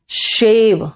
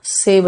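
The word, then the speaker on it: shave: मॉप the floor, शेव and take bath, शेव, सेव नहीं, सेव तो हो जाएगा बचाना, SAVE, है ना।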